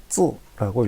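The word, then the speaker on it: 字: 중국어로 쯔라고 읽고 있습니다.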